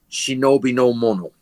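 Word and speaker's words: 忍の者: The word ninja is actually two ideograms in Japanese, which are pronounced correctly shinobi no mono.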